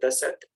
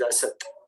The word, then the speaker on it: Asat: So we should not pronounce it Dasat, but it is Asat.